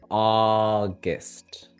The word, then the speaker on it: August: The first sound ah, long, and the other sound guest. So, you see that balance between the one that we stress and the one that we don't stress.